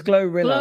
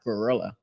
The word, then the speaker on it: GloRilla: no her name GL it's glorilla glorilla I actually thought it was like pronounced like gorilla I thought that's what